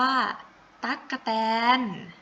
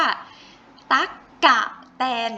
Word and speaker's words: ตั๊กแตน: มี สระ อะ อยู่ ให้ หนู ออก เสียง อ่ะ เพียง แค่ กึ่ง เสียง อ่าน ว่า ตั๊กแตน นะ คะ ไม่ ใช่ ว่า ตั๊ ก กับ แฟน อย่าง นี้ เต็ม ๆ อย่าง นี้ ไม่ ใช่ เนาะ เพราะ ว่า ไม่